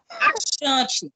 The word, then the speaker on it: Achante: Achante, é como se fosse com X, achante.